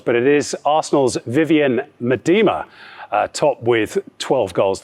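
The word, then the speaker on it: Miedema: with nine goals but it is arsenal's vivienne madima top with 12 goals i think it was your pronunciation but you are correct is that how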